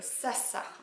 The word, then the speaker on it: Zsa: qui est le pull Sasa. Enfin je crois que ça se prononce comme ça s'écrit Z-S-A.